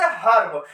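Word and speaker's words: herb: जैसे हर्ब देखेंगे, हर्ब क्या लिखा है, यच के बाद आया है ई और ई के जस्ट बाद आ गया है आर, तो अब हम ई का उच्चारण किसे करेंगे, अ से करेंगे।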